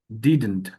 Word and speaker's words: didn't: উচ্চারণটা এটা হবে, যেমন ডাজন, ডাজন্ট, হালকা করে উচ্চারণ, doesn't, doesn't, doesn't, ডিডেন্ট, ডিডেন্ট।